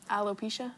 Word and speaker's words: alopecia: i feel yeah about um what what is alopecia right is that how you say it yes